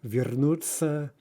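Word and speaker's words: вернуться: right with that but we actually say uh something more like a right that that t and the s are kind of conflated into its uh then followed simply by an ah right so we say vernuzza vernozza now keep in mind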